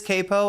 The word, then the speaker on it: capo: Let's jump to the new It is capo.